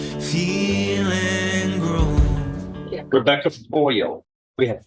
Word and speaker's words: Boyle: Both styled the state of Texas versus Rebecca Boyle. Am I pronouncing it correctly? Like aluminum foil, Yes. but it's FOYIL.